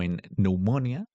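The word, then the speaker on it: pneumonia: Por ejemplo, la P al inicio de algunas palabras en el inglés es muda, como enumonia, psychology y heterodáctil.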